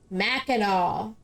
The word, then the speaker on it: Mackinac: The C is pronounced as a W because it's French. Mackinac.